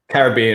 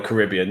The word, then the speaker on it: Caribbean: So we have Caribbean or Caribbean, depending on how you want to pronounce it.